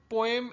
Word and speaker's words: poem: अब the word पोएम actually has to pronunciations, इसे पोम भी कहते हैं और पोएम भी कहते हैं।